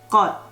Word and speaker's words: 것: First one is 것. Even though it ends with S as the last consonant of the syllable, unless the next syllable is starting with silent, you're gonna need to pronounce it as D.